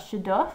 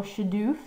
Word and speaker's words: shaduf: moving they would use that shadow or shadoof which is the different way of pronouncing it and it would count